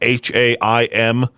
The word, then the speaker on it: Haim: There's a band called Haim. I believe that's how you say it. It's like ham with an I in it, Haim.